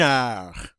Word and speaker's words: heure: Une heure. Une heure. Remember, the H is silent in French, so we're not going to hear that word. And instead, we're going to go right to the vowels.